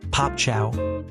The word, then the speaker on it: Pape Thiaw: Senegal's head coach, Pape Thiaw, pronounced "Pop Chow," ordered his players to leave the pitch in protest.